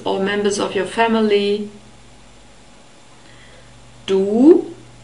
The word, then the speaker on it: du: members of your family do we have a long o sound it's a very close sound ooh and the inner surfaces of your lips are exposed do and we also have the double point in the script so this is a long vowel do and the german word